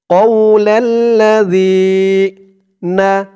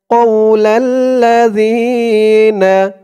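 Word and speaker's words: قَوْلَ الَّذِينَ: আর এই জালের উচ্চারণটা একদম নরম পাতলা করতে হবে। জিহ্বার মাথা উপরের দাঁতের মাথার সাথে লাগবে জালের উচ্চারণটা করার সময়। কৌলাল্লাযীনা, কৌলাল্লাযীনা।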